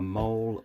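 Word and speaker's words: MOLLE: Now when I bought it, it came with a pouch, a mole pouch, M-O-L-L-E. I think that's how you pronounce it.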